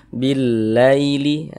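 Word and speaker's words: بالليل: Maka cara membacanya itu mudah, lunak, lembut gitu. Nah, billaili, billaili. Jangan ditekan-tekan, jangan dibaca billaili, jangan. Nah, kelembutannya nggak ada kalau ditekan-tekan gitu.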